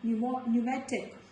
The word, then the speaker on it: pneumatic: Before letter N also, letter P is silent, like pneumonia, pneumatic.